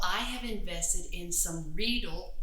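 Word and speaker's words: Riedel: have invested in some readil rhymes with needle wine glasses and these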